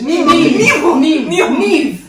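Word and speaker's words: Niamh: Or N-I-M-H. Neve. You know that one is Neve, and you know that other one is Siobhan.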